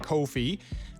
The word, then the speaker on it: Ko-fi: I think you say it like Ko-fi.